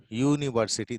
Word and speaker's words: university: Okay, this is ya, not ja. Ya plus u, u, ni, wo, city, university.